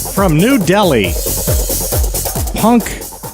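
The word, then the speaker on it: Punkh: From New Delhi, Punk H. That's how it's spelled. P-U-N-K-H. Punk.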